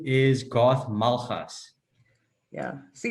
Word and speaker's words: Malgas: my name is garth malhas yeah see it's that g in your last name that i just can't pronounce it's like you have to use the back your tongue or something yeah it's very challenging